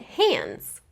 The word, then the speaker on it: hands: Now, you might have noticed that I actually did not pronounce the D or the D sound in the word hands. I didn't say hands, I just said hands.